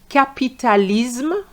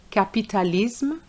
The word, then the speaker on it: capitalisme: And you have to remember that those words are going to be pronounced the French way.